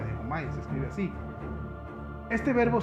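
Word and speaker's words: δαίομαι: Bueno, entonces demonio va más que nada con un verbo griego que se llama diaumai, más o menos así se pronuncia, diaumai, se escribe así.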